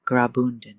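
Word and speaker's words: Graubünden: The Albula line is part of the Rian Railway, a UNESCO World Heritage journey that runs quietly through the canton of Grobundon, that's pronounced Grabund.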